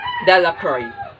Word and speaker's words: Delacroix: jones and dicky delacroix the villagers pronounce this name dallacry the villagers pronounced this